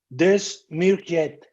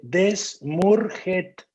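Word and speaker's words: Desmurget: El autor se llama Michel Desmourget. Lo voy a pronunciar como se escribe, Desmourget, con G y al final T.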